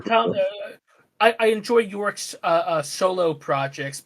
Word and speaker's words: Thom: Is it Tom or Thom? Just say Thomas. It's Tom easier. Tom.